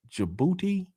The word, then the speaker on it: Djibouti: Djibouti. Djibouti. The D and the Lion fans, hit that subscribe button. Booty, the D is silent.